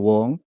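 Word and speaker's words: 黃: 그것도 그 싱가포르에서는 황씨를 웡이라고 발음한대요. 웡.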